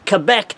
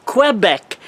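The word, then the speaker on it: Québec: be pronounced Levis, Quebec, and it would be Levis, Quebec, not Quebec. Quebec is the anglicized version of the word Quebec. So it's a really correctly, I would like to say, it's Levi, Quebec.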